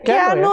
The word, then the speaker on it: Keanu: Keanu yang Gemo ya Keanu kan bacanya Kanu yang ini ya yang